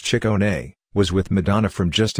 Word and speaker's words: Ciccone: Mr. Ciccone, pronounced chick-OH-neigh, was with Madonna from just about the beginning.